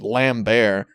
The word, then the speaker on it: Lambert: at his most Christopher Lambert Tusk great one might even say he transcambers the Lambert so it's one night it is it is lambertian transcendentalism and yes I know it's pronounced lamb bear okay yeah we all